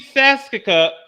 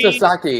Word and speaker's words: Sasaki: The rookie Sasuke Rookie Sasuke. about to begin. Type his name. Rookie Sasuke. Yeah. Type his name so I can pronounce it. Rookie Sasaki, excuse me.